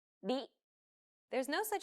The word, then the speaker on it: り: This character isn't pronounced using an English R sound at all. う。り、 It's like a mixture between an R and an L sound. り。